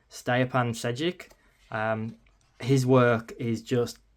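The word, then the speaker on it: Stjepan Šejić: when I looked online, I think is pronounced Stapan Sedic.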